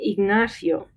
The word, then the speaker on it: Ignacio: When we say the name Ignacio, Ignacio, fio is one syllable together, okay? That's what we mean. It's not fi-o. We don't say Ignacio.